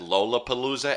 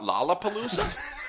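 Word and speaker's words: Lollapalooza: ] out of him because he said Lola Palooa and not Laala Palooa. Hey dude, what's wrong with Lola Palooa? Well, the only thing is that's wrong with it is that that's not how you say it.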